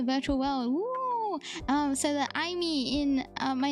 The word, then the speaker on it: Aimee: But yeah, it's pronounced Aimee, and that's a fun fact.